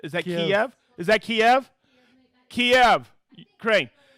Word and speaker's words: Kyiv: where you're from because you know I can't pronounce them, all right, you ready? Here we go. Auburn, Alabama. Kyiv, Ukraine. Minnie, is that right? Is that Kiev?